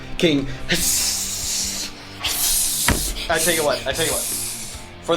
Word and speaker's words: Hssss: Every time you say his name, you have to say it like it's written. King Hssss.